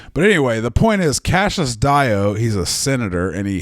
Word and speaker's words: Cassius Dio: which meant the foremost historian of the day, Cassius Dio, who I was pronouncing Cassius Dio until literally just like yesterday, and then I